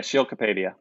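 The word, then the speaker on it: Sheil Kapadia: Okay, correct me if I'm wrong, Debo, because I'm terrible at pronouncing. Is it Shale Kapadia? Yeah, Shale Kapadia.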